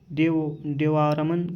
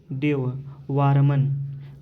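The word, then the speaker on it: देववर्मन: 202 ईसा पूर्व था देवा रमन का 202 से 195 ईसा पूर्व था इसको देखो सही उच्चारण इसका है देव वरमन का 215 से 202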